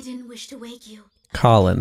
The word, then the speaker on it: Kallen: wish to wake you Colin that's how it's pronounced this time it broke